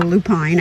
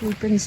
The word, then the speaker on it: lupine: So we have some lupin here, or lupine. I think it's lupin is how it's pronounced.